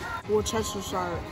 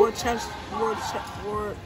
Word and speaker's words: Worcestershire: Y'all, look, Sam's Club's got Westshire sauce. I don't know how to say it, y'all, but it's $14.98. I've never seen it big like this. Worcestershire. Wait. Well, who? Worcestershire sauce.